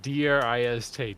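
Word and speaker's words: Drizzt: I bet according to the Wikipedia it is pronounced Dr i s t drist okay wait driz or drist drist do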